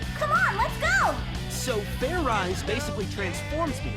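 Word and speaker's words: Fairize: There's no ice in it. What does this fair ride thing even do? Stop talking and just shout it out. Fair eyes! Just shout it out. Okay. Fair rice!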